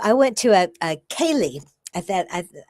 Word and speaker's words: céilí: And you know, I went to a a céilí. I thought I I've heard it said different ways, but it's spelled c e i l i.